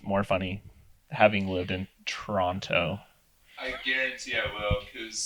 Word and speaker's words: Toronto: alone on the streets of Toronto don't pronounce the second tea local fit as we the north side Toronto um Toronto but yeah